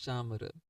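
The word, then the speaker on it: chamara: offered is the chamar this Cham if you see it is written in English it seems like camera but the correct way of pronouncing is chamar so chamar is made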